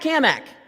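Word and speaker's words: Cammack: Hey, Cat Kamak. Now, he always made a point to say my name right. and he put an emphasis on the Mac because he was always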